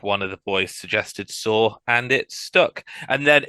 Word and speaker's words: Saur: it stuck and then it's been constantly mispronounced ever since some bands think some we we've been introduced to sour on S so I need to make a t-shirt that says S at the end of dinosaur and then convince some